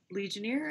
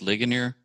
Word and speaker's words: Ligonier: a particular survey done by legioneer i think i think it's pronounced ligonier thank you i think